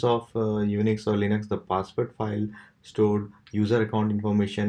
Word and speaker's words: passwd: today we'll learn about the password file which is spelled as pass WD and it is mostly